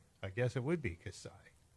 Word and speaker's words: Kasai: Kasai. I think that's how you say it. It's like when you're about to cough and you sigh instead.